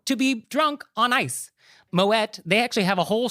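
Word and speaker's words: Moët: So you do say the T. It's Moet. He was Dutch. He wasn't French. So the correct pronunciation is Moet.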